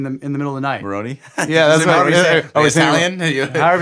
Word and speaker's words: Moroni: encounter that he supposedly had with the angel Moroni or whatever. It appears to him in the middle of the night. Moroni? Yeah, that's what Italian? However you say it. How do you say it? Moroni.